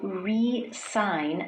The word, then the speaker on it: resign: Do you notice with the verb that we use to indicate that someone is leaving, the S in the spelling actually sounds more like a Z.